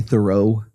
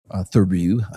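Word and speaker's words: Theroux: is going to be the Louis thorough thoru sorry I I'm saying it wrong. Apparently, people correct me. Thoru, I don't care. I'll call it thorough.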